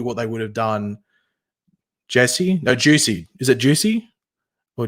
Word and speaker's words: Jussie: Whether he actually was, it's pronounced Jesse, but it's spelt like that.